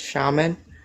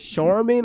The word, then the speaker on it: shaman: Um, first of all, Jvie, I think that that word that you can't say is pronounced shaman. Say it again. Shaman. Hold on. You said shan like the tissue. Sha sha shaman. Shaman. Oh, sha.